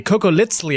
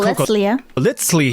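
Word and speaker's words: Cocoliztli: If you watched my video about surviving the Aztec Empire, you know that funny little TL pronunciation, the sound, is on purpose.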